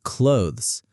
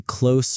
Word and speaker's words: clothes: Many learners say tree or clothes. People say close or cloths.